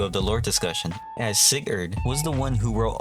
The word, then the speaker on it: Sigurd: And I finally got the pronunciation of Sigurd's name correctly, as in the other video I call him Sigrid.